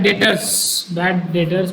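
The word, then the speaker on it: debt: तो बैड डेटर्स मतलब बैड डेट्स, बैड डेट मतलब यहाँ पे बी साइलेंट है।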